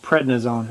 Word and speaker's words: prednisone: He's back to himself for a while, and that's because he's on prednisone.